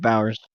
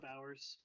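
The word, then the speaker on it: Bauers: Is that how you say Is that the right pronunciation, Bowers? Yeah, Jake Bowers. Yep. Bowers.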